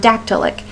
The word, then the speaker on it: dactylic: If we had the word dactylic. Dactylic is how that would sound or be represented with the syllable stresses. A stressed syllable followed by 2 light syllables.